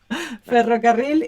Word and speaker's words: ferrocarril: Ferrocarril is railroad. I thought you were going to have trouble pronouncing the double R, but you don't.